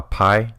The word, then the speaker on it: Pi: set, or the Bogota Pi set. It's spelled with a P and an I, and the joke is they're 3.14 inches long. Pi, the math thing.